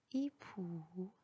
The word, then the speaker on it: époux: X à la fin du mot est toujours muet, il n'est jamais prononcé. Choix, époux, paix, faux.